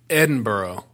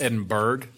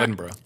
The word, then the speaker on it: Edinburgh: So let's talk about Edinburgh. Which people, you know, it looks like it's pronounced Edinburgh, but it's not.